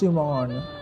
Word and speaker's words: Chimon: that was cute oh I was pronouncing it right it is jimon you guys they have the oh my